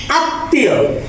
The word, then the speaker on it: আত্মীয়: আত্মীয়, এখানে মডা তয় মতো উচ্চারিত হয়েছে, অর্থাৎ দ্বিতীয় উচ্চারণ হয়েছে।